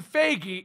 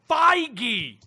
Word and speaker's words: Feige: try it but straw stop saying Kevin fakie its Feige the Tyranno tomahto exactly